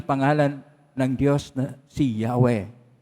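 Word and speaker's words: Yahweh: ng Diyos na si yahwe ang yahwe ay apat na po na titik yod he w he wala pong bowels doon kon po lagi at ang Hindi po yan ma- pronounce ng mga Hebreo dahil k banal na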